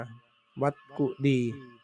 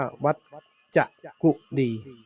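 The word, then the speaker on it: วัจกุฎี: ตี นะ อ่าน ว่า วั กุดี นะ ภาษา บาลี อ่าน ว่า วัจ กุดี เวจ กุดี นะ ใน ปัจจุบัน ไม่ นิยม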